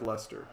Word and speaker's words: Leicester: the irish premier division no it's like lester okay i will